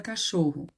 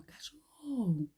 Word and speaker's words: cachorro: Só pronunciando, ó, cachorro, né? Viu que a tia demorou no show? Então, a sílaba tônica de cachorro é o show, a mais forte. Então, ela é a penúltima.